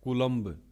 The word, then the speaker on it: coulomb: उसको बोलते हैं कूलम्ब, स्पेलिंग है COULOMB, कूलम्ब, ओके।